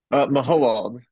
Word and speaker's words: Mahowald: How do you pronounce it? Mahowald. Mahowald.